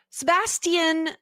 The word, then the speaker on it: Sebastien: Moira says Sebastien. Moira is correct.